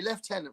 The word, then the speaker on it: lieutenant: Left tenant, right?